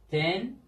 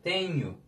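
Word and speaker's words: tenho: Falu, livru, vendedor, tenyu. Bakın, şimdi H harfi ünsüz, daha doğrusu özür dilerim, ünlü bir harften önce geldiği zaman Y oluyor. Yani biz bunu nasıl diyeceğiz? Tenyu. Telaffuzu bu şekilde arkadaşlar. Tenyu.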